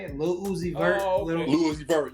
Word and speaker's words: Lil Uzi Vert: That's how you say it, Lil Uzi Vert.